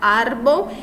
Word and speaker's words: árbol: Árbol e é a sílaba mais forte, então, a penúltima.